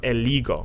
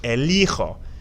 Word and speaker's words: elijo: This is pronounced, if you stop to take a second and look at it, it's pronounced eligo, but you want elijo.